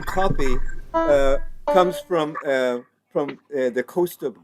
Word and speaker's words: Cuffy: So kids that were born on Friday were often named Copy. So then, when these tunes came across the pond, you know, it was so. Even though it's spelled Cuffy, it really comes from across Africa.